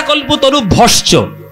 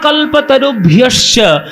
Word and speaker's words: কল্পতরুভ্যশ্চ: বাঞ্ছা কল্পতরু ভস্য, কৃপা সিন্ধু ভব্বচ, এসব বললে হবে না। ভাই কৃপা সিন্ধু ভয়ে বচ, ভয়ে নয়। এইগুলো এই যে জফলাটাকে ইয়ে উচ্চারণ করতে হয়। বাঞ্ছা কল্পতরুভ্যশ্চ কৃপা সিন্ধুভ্য এব চ পতিতানাং পাবনেভ্যো বৈষ্ণবেভ্যো নমো নমঃ।